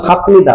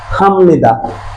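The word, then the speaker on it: 합니다: উচ্চারণ হওয়ার কথা ছিল হাফনিদা, বাট উচ্চারণ হবে কি, হামনিদা।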